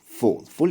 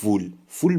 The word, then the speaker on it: full: کلمه full تلفظش رو دقت کنید به این صورت full یعنی پر. نگید full به معنی احمقه اگه اینجوری بخوایم تلفظ کنیم.